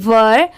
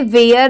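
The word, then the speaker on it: were: डब्ल्यू ई आर ई वर इसे वेयर नहीं पढ़ेंगे बहुत सारे लोग इसे वेयर पढ़ते हैं बट यह रॉन्ग होता है यहां पर इसकी प्रोनंसिएशन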